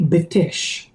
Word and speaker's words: Betesh: Betesh. And I pronounce it the way we said it's Betesh. In Hebrew, we say Betesh.